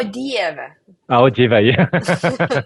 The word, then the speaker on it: Dieve: Divo? Oh my God, like, how do you say my God? Oh yeah, o Dieve.